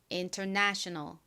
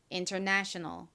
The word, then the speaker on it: international: international 한 번 더 해 보겠습니다.이 단어의사는 작은 강세가 있 부분에 있고요. 가장 큰 강세가 내 부분에 있어요. 그래서 international international 이렇게 발음을 해 주셔야 됩니다.